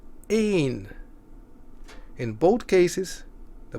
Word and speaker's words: één: Or it can also have the meaning of one, to stress that we are talking about a quantity. Then it is pronounced as één.